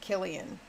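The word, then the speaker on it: Cillian: His name looks like Silian, but he pronounces it Killian.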